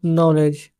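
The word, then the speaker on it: knowledge: स ही हैज नो नॉलेज के एन ओ डब्लू एल ई डी जी य फड नॉलेज में के साइलेंट रहता ठीक है फिर उसे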